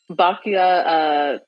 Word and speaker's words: Byakuya: Bakuya Togami.